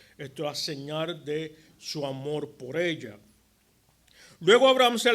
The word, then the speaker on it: Hamor: También se le conoce como Amor. Esto es Hamor, es con H al principio. La H muda, son Amor.